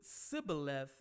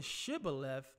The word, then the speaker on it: Shibboleth: the ephraim eye to see if they could pronounced his word if they pronounce the word Cybil F and mispronounced it I started I started saying Shibboleth they knew that this